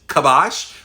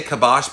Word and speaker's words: KBosh: of them before uh technically it's kabash but when you say kibash people like how do you spell that so it's k and